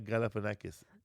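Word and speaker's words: Galifianakis: Zach Galafanakis.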